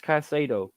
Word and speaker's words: Caicedo: Yeah, but that's not how you say it, because there's an S in it. Moises Caicedo.